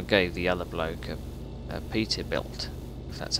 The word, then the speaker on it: Peterbilt: truck think I gave the other bloke a Peterbilt that's how you pronounce it we developed that full beam it's